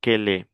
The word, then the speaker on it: quel est: Généralement, ça se prononce quel. Mais comment on fait la liaison, on dit quel est.